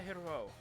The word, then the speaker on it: heureux: Très heureux. Yeah, the X is silent.